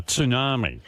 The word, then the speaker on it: tsunami: And I'm actually saying it now, tsunami. That's the way it's pronounced.